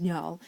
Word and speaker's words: Njal: And before any of you ask who the earth is Njal, it's Njal, but that is actually the correct way of pronouncing it in the Norse language.